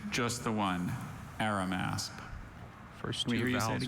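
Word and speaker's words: Arimasp: Are there any alternate pronunciations? Just the one, Aramasp.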